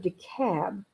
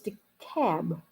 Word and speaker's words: DeKalb: in the county of dekalb uh when i moved here from florida it's spelt d-a k-l-e-b k-a-l-b seems like it should be de kalb but it's the cab it's like the l is silent you know like the